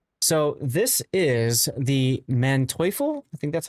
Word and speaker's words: Manteuffel: So this is the Manteuffel. I think that's how you pronounce it. It's the tier Yeah, 9. Manteuffel.